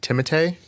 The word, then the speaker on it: Timothée: I was watching an interview, and he was saying his name is technically pronounced Timothée.